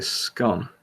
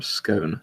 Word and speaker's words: scone: I think the closest equivalent would be a scone or a scone, depending on how you say it.